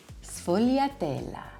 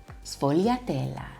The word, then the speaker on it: sfogliatella: One of my favorite Italian pastries is not a sfogliatella, sfogliatella, sfogliatella. The S and the F make us really quick and light and airy, sfogliatella.